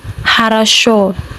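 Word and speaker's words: хорошо: Another example harash. Harash. Another example vada. Vada. You if you see the spelling of harash, you see that the all the vowels are o but they are pronounced a harsh only the stressed the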